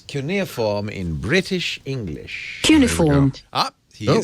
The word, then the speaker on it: cuneiform: In English we say Cuneiform. No, that's wrong, too. Cuneiform. You know what? Who the hell knows this English dictionary's Cuneiform. That's wrong all round.